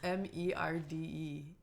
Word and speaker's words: merde: How do you pronounce M-E-R-D-E?